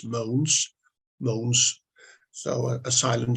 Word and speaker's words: Mogens: a question for you my first name is pronounced as if it was spelled m-o-a-n-s moans moans so Asylum G